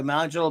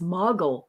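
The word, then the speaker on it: Majel: You can say it like 5 different ways. It is from multiple countries. So in the Middle East, I researched in the Middle East that it's Mogul or Majul.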